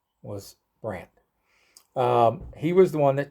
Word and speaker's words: Brandt: Now, the old Germans, they look down on it, but I'm gonna do my best and pronounce the name Brandt as best as I can in German. So here goes. It's Brandt.